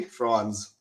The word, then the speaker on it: Franz: before right um but Franz maybe Franz like bronze that's how he likes it pronounced okay did I cut